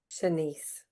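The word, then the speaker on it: Shanse: Senise.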